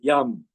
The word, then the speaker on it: Yam: Heart chakra, it's Yam, Y-A-M.